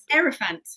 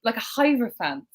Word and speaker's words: Hierophant: Hierophant. See, I pronounce it with a hierophant.